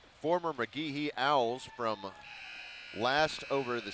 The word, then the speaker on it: McGehee: Do you know for sure how to pronounce it? I got to know this. It's McGehee. Okay. Yeah, because actually that is just McGehee because they're the Owls.